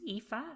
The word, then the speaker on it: Aoife: So it's pronounced Aoife and it's spelled Aoife.